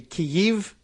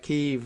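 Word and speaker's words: Kyiv: or k-e-e-v-e um but i guess k-y-i-v like there's a little hitch in there and i guess you should be like from i'm guessing it should be kiev but they don't make a full syllable out of it so it's like kiev i guess says that it's not ee but if you are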